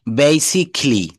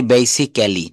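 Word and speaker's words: basically: এরপর বলছে শব্দের শেষে CALLY, এই যে ক্যালি থাকলে ক্যালি উচ্চারণ না হয়ে কিলি হবে। অটোমিটি, দেখেন অটো, ঔঠো মিঠি খেলি, ঔঠো মিঠি খেলি। বেসিকলি, আমরা বলি বেসিক্যালি, নো, বেসিকলি, বেসিকলি।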